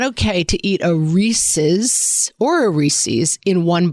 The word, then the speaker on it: Reese's: Reese's Peanut Butter Cups. It's Yeah, it's Reese's. Like it rhymes with pieces, not Reese's Pieces.